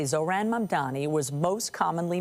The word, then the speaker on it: Mamdani: Babbel and the captioning group say Zohran Mamdani was most commonly mispronounced, with people swapping the M and the N in his last name.